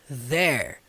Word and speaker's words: there: Pronúncia do TH. There. There. Língua na ponta do dente.